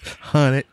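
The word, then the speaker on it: hunnit: And we have say it right. 100. Hundo. 100. Hunted. H-U-N-N-I-T. Hunted.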